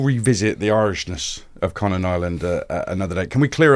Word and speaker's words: Niland: So it's Niland. I think the I is a Y. But yeah, that's how you say it.